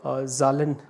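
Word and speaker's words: Zahlen: German language के अंदर numbers को ज़ालन प्रोनाउंस किया जाता है या लिखा जाता है, तो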